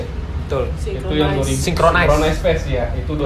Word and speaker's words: Synchronize: Ada beberapa kayak kemarin gue ambil contoh Synchrony Fest ya. Betul. Itu yang 2000 Synchronize Fest ya. Itu 2020. Pronunciation-nya synchronize. Synchronize Fest itu 2020.